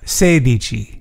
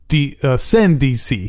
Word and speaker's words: sedici: Sedici. Sedici. Sedici. Sedici. That's it. Okay. You got Six it. Six plus ten. Uh-huh. Is? 16. Sendici.